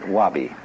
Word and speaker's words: wabi: that goes along with something that rhymes with it wobby so it often Japanese